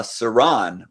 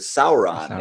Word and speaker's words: Sauron: otherwise no one would i mean people would pronounce it any way they want to i remember i used to always say uh saran for the the the dark lord in lord